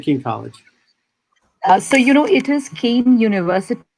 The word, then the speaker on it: Kean: Nidhi Thakur, Nidhi at Keene. Is it Keene University or Keene College? So, it is Kean University. It's written as Kean, but it's pronounced like a candy cane.